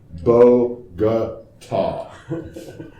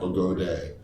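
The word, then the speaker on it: Bogotá: So Bogota is pronounced Bogota. Yeah, Bogota, Bogota, not Bogode, is not long A, as in lame brain.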